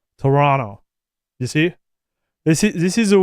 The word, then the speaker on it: Toronto: Okay, so we are in Toronto, not Detroit.